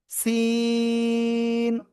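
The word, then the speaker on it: س: সিন। জিহ্বার আগা, সামনে নিচে দুই দাঁতের পেট ও আগার সাথে লাগিয়ে অক্ষরটা উচ্চারণ করতে হবে।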